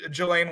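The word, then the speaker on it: Ghislaine: name what is that i think it's pronounced like elaine i think it's like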